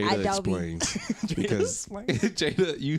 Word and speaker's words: Adobe: That's how you say it. Adobe. Oh, okay. It's like How you said it? I said a Bodie or something.